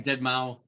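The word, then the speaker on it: deadmau5: I think it's Dead Mouse, but it's okay. Well, they call him Dead Mouse.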